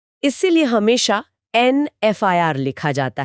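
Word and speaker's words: FIR: तो पुराने रूल के हिसाब से तो ए एफ आई आर होना चाहिए। पर जब हम इसे बोलते हैं एफ आई आर तो पहली आवाज एफ यानी हिंदी के ए की आती है।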